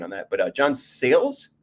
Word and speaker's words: Sayles: on that but John sales is it sayless sales John sales okay is an underrated writer